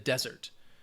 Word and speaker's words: desert: The difference would be the emphasis, where that stress is. So the noun, desert, the stress is on the first syllable.